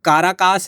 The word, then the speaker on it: Caracas: तो boundary share होती है इसकी राजधानी एक काराकास है या काराकस भी बोलते हैं। यह आप देख लीजिएगा प्रोनाउंसिएशन के हिसाब से।